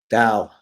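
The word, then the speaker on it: دَ: Dal. And it has this symbol above it. It's a short a, so it's just dal. It's just da. Oh, there's no L. You don't pronounce the L.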